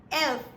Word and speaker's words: elf: that stop oh great so what is it elf elf that's right great guys quickly getting on